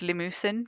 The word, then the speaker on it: Limousin: Abodine Angus, and some I think they're pronounced limusen cows like limousine but slightly different I guess.